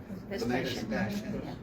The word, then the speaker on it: Vespasian: This agreement was negotiated by, and I want to pronounce this right, Vespasian Warner? Vespasian.